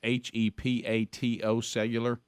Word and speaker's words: hepatocellular: It's HEPATO cellular. Mm-hmm. Is that hepatocellular? Yeah, cancer. Hepatocellular is what is the phonetic spelling.